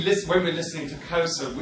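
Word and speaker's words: Xhosa: If we listen, when we're listening to Kosa, it's just a pure auditory thing.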